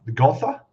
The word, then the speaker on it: Gotha: I saw your other what was that plane, the Gotha, that's how you say it?